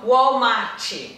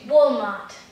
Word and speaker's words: Walmart: É a Walmart. Walmart. Hã? Walmart. Walmart. Tá vendo? De novo a história do t, t, t. Bem delicado, né?